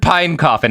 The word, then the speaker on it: Pine Coffin: to help but Pine Coffin Edward Pine Coffin and that is spelled like it sounds.